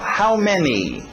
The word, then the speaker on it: many: How many? Tem que ter aquele i no final.